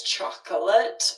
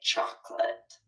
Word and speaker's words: chocolate: Is actually spelled and is three syllables. Chocolate, but rarely will you hear it that way. We almost always drop it and say chocolate.